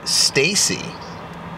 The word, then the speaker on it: Stacy: Copy, and it's actually pronounced Stacy. And no, the spelling is correct.